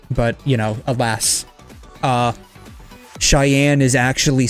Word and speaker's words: Cheyenne: Pronounce the word Cheyenne. Cheyenne. It It looks weird, right? Like it should be like sh um maybe a i y a n e, not like that.